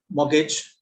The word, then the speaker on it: mortgage: Okay, so picket, pocket, so it's there, and some other random words like asthma, Christmas, soften, mortgage.